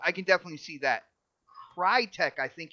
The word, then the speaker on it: Crytek: rumor is IO Interactive relic relic entertainment and Crytek yes guys I said it right Crytek um these are the rumors and hasn't been